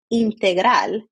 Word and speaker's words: Integral: Integral. So that's how you say it in Spanish.